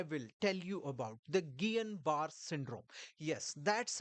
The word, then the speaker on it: Guillain-Barré: And today I will tell you about the Gillian bar syndrome. Yes, that's how it is pronounced. You don't call it Gileian bar syndrome. You don't call it Ganbar syndrome.